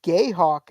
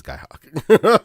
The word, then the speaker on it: Guy Hawk: It says on here it's Guy Hawk. Well, it is Guy Hawk. I No, but I mean it's spelled. It's supposed to be spelled G. technically, the gay hawk could be a guy hawk. So Oh, I mean that's for damn There sure. we go. But on the wiki it's spelled G-U-Y.